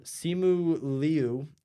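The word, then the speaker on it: Simu Liu: I So, um, Simu Leu, I believe I pronounced it right, is sh Florence Pew, I love this character so much.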